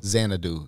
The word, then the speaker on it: Xanadu: How do you pronounce it? Podcast and stuff like that before. Xanadu.